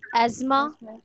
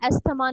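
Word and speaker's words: asthma: Is pneumonia, fourth is एस्मा। इसको आपने एस्मा पढ़ना है, एस्थमा नहीं पढ़ना, ठीक है?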